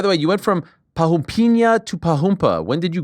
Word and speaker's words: Parrumpinha: Well, American people doesn't know how to say Parrumpinha the way you do. Okay, You know, okay. that's the right way to say.